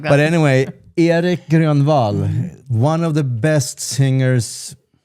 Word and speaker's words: Grönwall: Erik Grönwall is the way you pronounce it in Swedish. Yes. Or in Västmanländska.